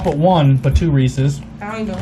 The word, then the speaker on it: Reese's: When the commercial first aired, the lady pronounced it Reese's, so it sounded like feces, and apparently Reese's got upset that that's not the way to pronounce it because that's not right. It's not Reese's, and they changed the commercial, so it is officially Reese's.